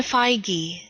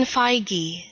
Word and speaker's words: Feige: madman says there's a video on how to pronounce his name we're gonna watch a Kohl's ad first though Kevin feige Kevin feige feige Kevin feige I'm gonna stick